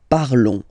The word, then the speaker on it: parlons: Remember, final s is not pronounced, okay? And then this on together, they will give you the sound on, okay? Nous parlons, nous parlons.